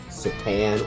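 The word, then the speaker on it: C'tan: And all of a sudden, they got approached by a star vampire called a Satan or Catan. I've heard it pronounced both ways.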